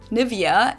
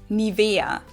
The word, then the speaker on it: NIVEA: English native speakers usually say NIVEA, NIVEA. In German, we say NIVEA, NIVEA. So the emphasis is on the E, NIVEA.